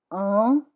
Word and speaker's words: un: Un is one, it's nasal.